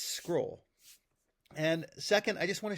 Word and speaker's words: Xcrol: Now, the idea here is I'm just going to walk you through because first of all, people have been calling it XCroll or XCroll. It's not. It's scroll.